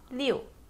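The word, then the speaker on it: 六: we proceed to six four six six is pronounced as Leo still four seven seven is pronounced as Shi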